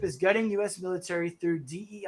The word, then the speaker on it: DEI: getting U.S military through Dei I think it's pronounced Daya by the way something I learned last night on Tim Poole Dia means of God in a certain language just remember that oh